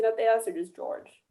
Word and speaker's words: George: they asked or just george it's just george because that's george because it's french george i wanted to